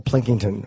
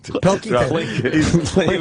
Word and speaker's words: Pilkington: Carl Plinkington, or is that how you say his name? Plinkington. Pilkington.